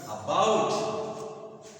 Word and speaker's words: about: अब इसको उच्चारण करने के लिए तो ये इस पर 2 पर हमको दबाव देना है। तो इसका जो सही उच्चारण होता है वो होगा अबाउट, इट इज अबाउट।